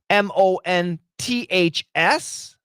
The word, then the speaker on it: months: at the end but when Americans say it fast the th is gone and we say months